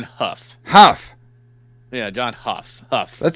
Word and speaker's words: Hough: Hugh? I'm pretty sure it's pronounced John Hough.